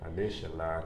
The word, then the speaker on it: Adesola Akindele: Adesola Akindele. That's how I would say it. Adesola Akindele.